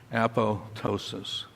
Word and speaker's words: apoptosis: word at the top usually mispronounced the second P is silent appllo ptosis this is already going